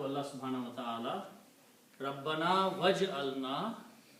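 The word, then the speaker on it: واجعل: Then if you put waw before that, which means and, then you do not pronounce alif, and it becomes waj'al.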